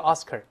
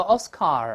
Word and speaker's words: Oscar: Awards, 俗称叫 Oscar。不要读 Oscar, 后面发二的声音，我们再读一下这个字 ,Oscar,Oscar, 复数 ,yes。